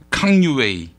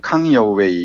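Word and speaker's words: 康有为: 아, 강유웨이. 예, 중국식으로 발음하면 강여웨이 이렇게 발음하고요. 예. 우리 한국식으로 읽으면 강유위입니다. 예.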